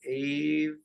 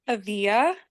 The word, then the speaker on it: Avia: So I think everyone here has joined us before, although Ava, is that correct? I don't. It's pronounced Avia, Avia.